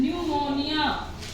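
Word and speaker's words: pneumonia: उसके बाद है जैसे प एनई यू एम ओ एन आई ए न्यूमोनिया इसको बोलेंगे हम न्यूमोनिया ठीक है य पर हमने प को नहीं बोला तो समझ आया कि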